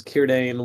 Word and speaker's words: Círdan: It's Círdan. Sorry, Círdan. Here I am pronouncing it Círdan. Yeah. Who knows? C's in Elvish are always pronounced as K's, so you have Are they?